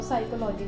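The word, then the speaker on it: psychology: तो अब ये जो था, ये जो पी है ये यहाँ पे आप देखोगे कि ये एस से पहले आ रहा है तो पी हमारा यहाँ पे साइलेंट हो गया और बाकी का ये वर्ड रह गया।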